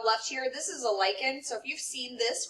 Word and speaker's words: lichen: help them a lichen this is pronounced lichen this is a fungus